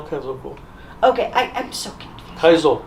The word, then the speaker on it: Kaizoku: And this, did I pronounce the Kaizoku correct? Or is it Kaijoku? No, Kaizoku.